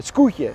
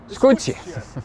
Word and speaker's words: Skûtsje: The 'Lastdrager II' comes from the 'cowtje', that's such a boat... I think I'm saying it wrong, because I see someone laughing... what do you call it? "Skûtsje!" Of course I said it wrong again, I never suffer from...